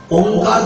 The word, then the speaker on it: ওঙ্কার: ওঙ্কার ধ্বনিটি নাদধ্বনি, নাভি অঞ্চল থেকে ওঙ্কার ধ্বনির উচ্চারণ হয়। অ যুক্ত উ যুক্ত ম, তিনটি অক্ষরের সমাহারে ওঙ্কার।